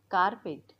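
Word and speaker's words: carpet: जिराफी नाही बोलायचं giraffe कार्पेट किंवा कार्पेट कार्पेट रचा उच्चार स्पष्ट नाही केला जात इंग्लिश मध्ये पण स्पेलिंग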